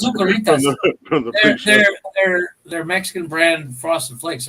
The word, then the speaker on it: Zucaritas: No, it's Zucaritas.